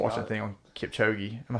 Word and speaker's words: Kipchoge: I just they watched got a thing on Kipchoge. Am I saying it right? Is it Yeah, Kip- Kipchoge.